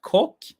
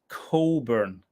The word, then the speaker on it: Cockburn: anyone know about it Coburn not Coke Jonas is pronounced Coburn the CK silent Coburn well that was a shame